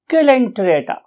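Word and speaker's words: Coelenterata: Few people से इट एज सिलेंटरेटा, सिलेंटीराटा और टिरेटा, and others may utter it as calenterata. However, most of the scientists or teachers love to say it as silenterata, right?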